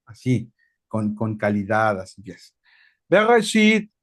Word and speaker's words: Bereshit: En vez de Génesis, su nombre correcto es Bereshit. Y ahí es como si tuvieras decir gutural. Ahí luego te vas a esforzar para pronunciar en hebreo. Bereshit.